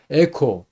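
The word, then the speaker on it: ἔχω: 리오 지금 했던 거 풀다 이런 거고 에코 이것이 애가 여기 보면은 엡실론인데 기식이 연기식이에요. 그래서 해가 아니고 에로 발음했고 액센트가 거기 있습니다.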